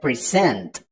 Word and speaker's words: present: to give or show you need to remember that most two syllable nouns are stressed on the first syllable and most two syllable verbs are stressed on the second syllable like present okay I know what